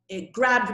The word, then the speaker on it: grabbed: word is grab and the past tense will be grabbed so nowadays i make a little d sound she grabbed my hand she grabbed